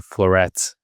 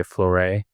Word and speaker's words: Flooret: Like floor, f l o o r and then e t at the end. So Flooret. If you want to sound fancy, you can say Floray, but that's only if you're fancy.